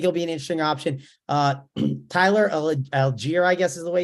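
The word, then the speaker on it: Tyler Allgeier: Tyler Algier, I guess is the way you say it.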